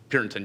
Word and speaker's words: Purinton: Am I pronouncing that right? Purinton, yes.